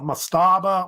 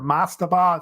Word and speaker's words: mastaba: You see here, they had what they call mastaba or mastaba. It's usually pronounced either way.